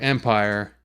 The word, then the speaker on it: empire: the dictionary on this the word empire has a stressed first syllable so it's just like stationed in that way the m of empire is stressed and then the pyre is the unstressed section of that word so in hurt the